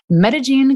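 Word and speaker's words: Medellín: Yeah, and so I learned that Medellin is spelled Medellin because the double L is the J, right?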